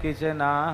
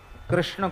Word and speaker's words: कृष्ण: पर मंत्र में आपका ऐसे नहीं चलेगा कि कृष्ण को कृष्णा कह दो यह मंत्र में नहीं चलेगा राम को रामो बोल